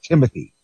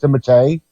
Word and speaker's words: Timothée Chalamet: Because I know it's not Timothy. It's pronounced Timothée. Okay. Or something because the French pronunciation is Timothée.